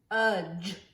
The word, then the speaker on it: fudge: Sometimes we have the letters D, G, E. These three letters together say the sound J, J.